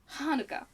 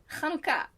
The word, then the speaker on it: Hanukkah: more linguistic skills because the way she said Hanukkah well I had an actually two ah sounds in it and an ooh as in it was three syllables which in American things do not have as many syllables as it's like it's Hanukkah no it's Hanukkah so there you go so yeah uh